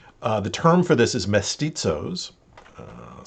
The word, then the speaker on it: mestizos: The term for this is mestizos. I'll spell that again.